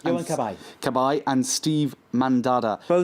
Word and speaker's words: Cabaye: was you on cab a is a correctly pronounced i wink at I Cabaye and steve mann Dada so now laying at